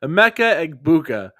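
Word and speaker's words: Emeka Egbuka: Amecha Eggbuka is how you pronounce his name.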